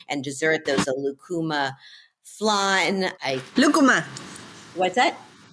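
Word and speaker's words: lúcuma: There was a lucuma flan. Lucuma. What's that? Say it again. Lucuma. I need you for my pronunciation of everything on the show, by the way.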